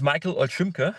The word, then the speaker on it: Michael Shima: So, my name is Michael Shima. That's the German pronunciation.